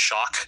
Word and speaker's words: Shock: my last name is it's pronounced shock. So, you know, if you if you say with like a boss accent, you know, oh, look, I got shocked.